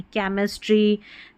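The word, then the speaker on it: chemistry: इन सभी शब्दों में केमिस्ट्री।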